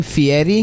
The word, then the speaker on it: Fieri: yeah here's the best part though dude he pronounced his name Fieri yeah and he was born guy Ferry he